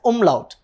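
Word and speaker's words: Umlaut: so this two dots is basically called as umlout pronounce it after me uml okay and the main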